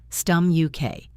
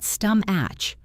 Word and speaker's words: stomach: And for stomach, remember the K at the end that you never expected. Stum and then a clean K. Stum UK. Not stum atch. Stum UK. The stomach ends with a K, like a lock clicking shut.